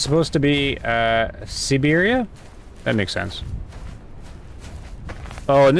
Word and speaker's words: Siberia: Had an old Russian woman tell me the proper pronunciation of Siberia. So I like sit. or se like siberia not sigh.